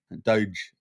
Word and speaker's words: Doge: We've got, except the E is silent. A Doge. Doge. Without the E.